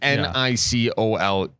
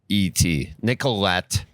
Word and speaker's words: Nicolet: The T is silent. Yeah, it is. It's not. It's Nicolet. Nicolette. If you want the phonetic.